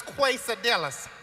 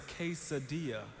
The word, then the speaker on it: quesadilla: Go back there and get me some of these quadillas. Quad. It's not quadilla. It's quesadilla. Quesadicha. You see a K anywhere in that word?